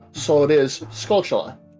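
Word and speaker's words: Skulltula: I always pronounce as gulas what is the official pronunciation you're supposed to pronounce it like tarantula so it is scula correct yeah scula okay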